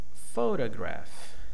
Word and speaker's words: photograph: Photograph. Photography. Okay. We have different patterns of stressed. The first one, we have the stressed syllable pho. The second one is unstressed.